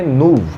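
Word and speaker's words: nouveau: फिर एक और शब्द है आपके सामने, नूव। क्या है, नूव। देखो ये इतना लंबा स्पेलिंग है, बट इसे कहा जाएगा नूव।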